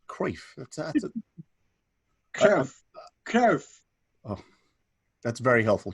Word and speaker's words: Cruyff: think it's called um don't mispronounce it like every other englishman please it's kreef kerf oh that's very